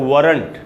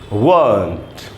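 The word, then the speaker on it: won't: Word and नॉट को short form में ऐसे लिखते हैं, इसको हम लोग पढ़ लेते हैं अक्सर वरंट। वरंट, वरंट नहीं होगा दोस्तों, इसका शुद्ध उच्चारण है ये रहा वंट, वंट।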